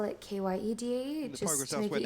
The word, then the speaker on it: Kyedae: My parents just spell it K-Y-E-D-A-E The just progress to make elsewhere it now.